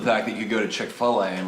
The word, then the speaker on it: Chick-fil-A: Then there's also the fact that you go to Chick-fil-A and like get something that's delicious. How do you pronounce Yeah. that? Chick-fil-A.